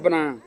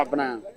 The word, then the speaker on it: Abena: Was Abana. Okay. Yes. Okay. Then I'm also Tuesday. Okay, you're Tuesday born as well. Yeah, I'm Kobna. And you are Abana. Yes. Good. So anytime Tuesdays are called Abana.